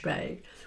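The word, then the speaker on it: spae: Gaelic is s p a e which is pronounced shpay, which means to see.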